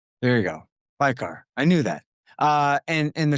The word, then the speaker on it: Paykhar: Sangar Paykhar. There you go. Paykhar.